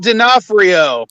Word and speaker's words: D'Onofrio: from daredevil like wow what's a fisk vincent d'onofrio it's nafio thank you sorry his name is hard to pronounce okay but today i i actually have